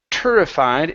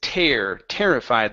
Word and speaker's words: terrified: Our next one, instead of terrified, it's terrified, like terror. Okay, so however, terrified me.